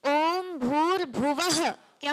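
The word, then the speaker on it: भुवः: भुव क्या हो जाएगा भुव के व के बाद दो बिंदु है ना वो बिंदू भी बहुत इंपोर्टेंट है उनका भी उच्चारण करना है उनका उच्चारण क्या होता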